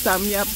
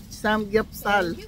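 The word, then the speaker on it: 삼겹살: Yan pala yung samyap. Samgyup pala. Samgyupsal. Ganun pala pag-pronounce.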